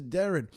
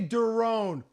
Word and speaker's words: Deron: point guard derone Williams actually his name is Darren yeah but I say derone well you you say it wrong oh